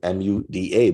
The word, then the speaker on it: muda: known as waste in Japanese mud Buddha it's pronounced as also written is m-u-d-a muda oh if you're from Europe you can